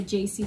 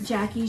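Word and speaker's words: Jaci: is um jackie sorry keep wanting to say jc because it's spelled j-a-c-i but um jackie she's needles in my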